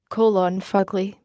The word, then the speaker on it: fugly: To say it properly, the first syllable should be growled rather than spoken.